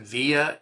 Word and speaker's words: VIA: It's called I I I pronounce it via.